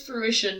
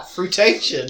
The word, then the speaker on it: fruition: here pronouncing it wrong it's fruition not fruity transportation this is the problem when you're dyslexic and you've been reading books for years you're just like aha fruitation i wouldn't the one